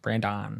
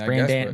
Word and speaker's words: Brendan: n d a n okay okay Brandon Brandon I mean Brenan Brenan Brenan yeah Brenan yeah real name's Dan